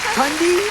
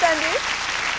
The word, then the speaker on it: Tundi: ready to meet tundi I don't know how to say that Hi D hello you just said it right tundi yes it's tundi my name is uh